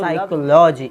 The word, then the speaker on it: psychology: अब चलो हम देखते हैं कि आपके पास जो साइकोलॉजी, इसको पी साइलेंट है, तो समझ आ गया आपको।